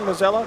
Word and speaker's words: Mazzella: Mazzella is the correct pronunciation, Mazzella? Yes.